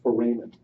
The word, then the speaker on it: foramen: I think the proper pronunciation is foramen, but I just don't have the mental discipline to say that, so I just say foramen. But I think you should know that the proper pronunciation is foramen in American English.